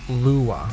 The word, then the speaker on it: Lua: It's pronounced Lua.